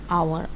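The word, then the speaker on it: hour: जैसे for example with silent H, यहाँ पे साइलेंट एच है। An honest, an आवर, एन एयर, एन आवर।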